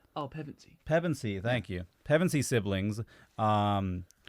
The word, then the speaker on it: Pevensey: Anyway, so in the year 1000, fuck, I always forget how to pronounce these kids' names. The bloody Pevensive? Oh, Pevensey.